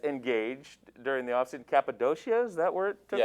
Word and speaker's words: Cappadocia: you very nice engaged during the off season cappadocia is that where it took place is that how you say it cappadocia yeah all right it's very scenic very nice